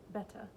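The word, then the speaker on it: Bethe: bass who said she was pleased that she remembered to pronounce his name the way it wasn't spelled betta sorry he nodded and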